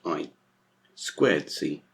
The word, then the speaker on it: I²C: So I2C, when you see that, is pronounced I²C.